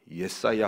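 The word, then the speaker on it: ישעיהו: 구원의 내용이 주를 이릅니다 이사야 선지자의 이름은 예사야 후 그렇게으로 발음합니다 예사야 또는 예사야이 말은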